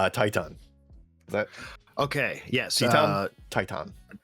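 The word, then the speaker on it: Titán: Yes, Titan. I want to say Titan. I think. I know they Excalibur pronounces it Teton, but that doesn't sound right to me.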